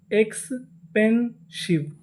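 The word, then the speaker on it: expensive: आखिरी में ई लिखा है, ई का उच्चारण नहीं करना। तो पूरी मीनिंग एक्सपेंसिव, एक्सपेंसिव, एक्सपेंसिव।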